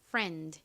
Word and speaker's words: friend: 뭐죠 한국식 발음으로는 프렌드 그리고 실제 미국식 원어 발음은 friend 이죠 프 소리 나는가 가장 앞에 오고요 그다음